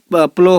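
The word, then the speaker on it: plough: same kind of प्लग प्लो होगा यहां पे देखिए पी एल यू जी एच है लेकिन इसका उच्चारण होगा प्लो पी एल ओ डब्लू इसलिए हम लिख दिए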